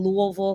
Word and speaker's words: Louisville: So a little bit about me, born in Dallas, Texas, raised in Louisville, Kentucky. That's how you know I'm from there, because I say it like my mouth is full.